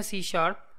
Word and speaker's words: C#: introduction से सी शार्प जिसको हम डिनोट करते हैं सी हैश से और प्रोनाउंस करते हैं सी शार्प सी शार्प basically एक